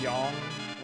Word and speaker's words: Yang: It's like Yong, Cecil-ish, Cecil. To be fair, I've never been entirely comfortable with pronouncing Cecil's name.